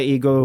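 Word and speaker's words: HEGO: It's H E G O. I've heard it pronounced it's to my Texas tongue and Texas ear. It sounds more like ego than anything else. So that's what I'm going with.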